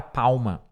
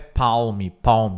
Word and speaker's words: palm: É igual a palavra palma, tá? Palma da mão, não é palme, é palm.